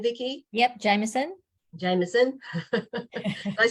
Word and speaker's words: Jamieson: Yep, Jamieson.